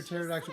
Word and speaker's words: pterodactyl: Koi, why can't you hear Pterodactyl go to the such a nice bathroom? Because the lady. P is silent.